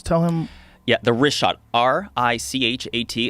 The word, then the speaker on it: Richat: Yeah, the Richat, R-I-C-H-A-T. It's worth mentioning got it already here. Yeah, in the first couple, I just want to say it's Richat. I used to call it Ricot. I was mispronouncing it.